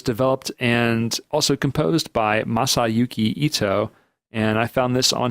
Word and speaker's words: Masayuki Ito: There's a lot of Masahiko Ito. I totally mispronounced that too. Yeah, I know. It's not even that long of a name. I just keep saying it wrong.